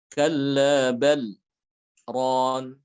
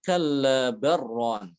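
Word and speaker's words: كَلَّا بَلْ رَانَ: Kalla bal ron, lamnya dibaca jelas. Untuk Hafs Thariq lain, Thariq selain daripada Syatibiyah, itu ada yang membaca dengan idgham sehingga dibacanya kalla barron.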